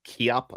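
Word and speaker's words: Koepp: I think it's like I think you're supposed to pronounce it David Cop or it's like you know David Kop I would say or something like that.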